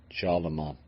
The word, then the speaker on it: Charlemagne: Charlemagne, I've got that pronunciation right.